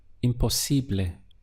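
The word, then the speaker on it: imposible: would be impossible a let's look at the syllables again we have M or C bleh impossibly how would you say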